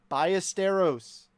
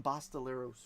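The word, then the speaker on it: Ballesteros: Bysteros biesteros biesteros. I don't know how many times I've mispronounced it. Bysteros 324 of five hundo. That's for the cubbies. Sam, I called him Bastileros for like well over a year incorrectly and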